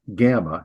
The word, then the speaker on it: gamma: So it's pronounced G, gamma, as in got.